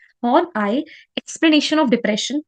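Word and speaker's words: Horney: Okay, next में आते हैं, हाउ वुड हॉर्न आई, इसकी प्रोनाउंसिएशन क्या है? हॉर्न प्लस आई, ई वाई ई। ठीक है, तो उसको बोला जाता है इस तरीके से, हॉर्न आई। हॉर्न I explanation of depression be different from Alfred Adler.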